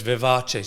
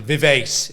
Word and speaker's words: Vivace: thought Vivace yeah it might sound like Versace yes but it's Vivace so Vivace Health how do I spell it how do i v a c e v i v a c love Australians pronouncing vivease it's not vivez Vivace health and uh